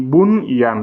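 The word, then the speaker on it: بنيان: On va dire bunyan. Le N, c'est clair.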